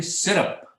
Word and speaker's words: syrup: said syrup or syrup it's actually syrup it's not up at all so just small things